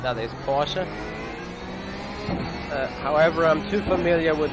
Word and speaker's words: Porsche: German lesson for you, the real German pronunciation for the car I'm currently riding in is Porsche, or Porsche. Porsche is more or less the English version, but if you want to have it German perfectly right, that is Porsche.